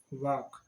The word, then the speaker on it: walk: यानी कि एल इसमें साइलेंट है। वॉक्स, वॉक नहीं बोलते, वॉक्स, वॉक। सेकंड फॉर्म है वॉकड, WALKED। वॉकड, WALKED। Third form भी इसकी यही है, WALKED। वॉकड। ING फॉर्म होगी इसकी वॉकिंग, WALKING, वॉकिंग करना। ध्यान रखना कि इसमें एल जो है वो साइलेंट है।